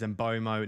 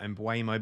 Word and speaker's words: Mbeumo: If you're going to comment down below that I am pronouncing Mbeumo wrong, I've been told by several Brentford fans that it is Mbeumo, not Mbeumo, because the E is before the U.